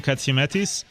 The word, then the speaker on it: Katsiametis: Money Matters with I'm your host ktis and I get laughed at every time I